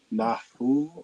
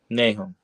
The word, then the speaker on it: Nahum: Nahu or Nahum? Nahum.